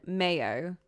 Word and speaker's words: Mayo: Name is from Irish Mago, pronunciation Mayo. Oh, much like condiment.